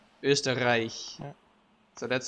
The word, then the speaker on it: Österreich: You have the sound, Österreich, which is super hard for a lot of cultures. Plus you have a super hard R, right? Österreich.